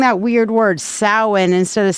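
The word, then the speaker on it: Samhain: now why am I saying that weird word sa instead of Sam Hayne because that's the way it's actually pronounced it is a Welsh word okay it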